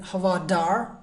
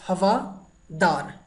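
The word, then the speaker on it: हवादार: It's not like havadar, not D sound. I already told you in Devanagari, in Hindi we have two kind of D sound, right? So it's havadar.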